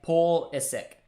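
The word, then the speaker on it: Pulisic: can say that one you say it like pool is sick ah there all right you eat thank you that sounds easier to say paul is sick pull sick that sounds weird i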